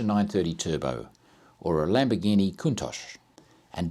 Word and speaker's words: Countach: Turbo or a Lamborghini Countach and don't correct my pronunciation about that unless you actually live in Bologna kuntosh but yes the 911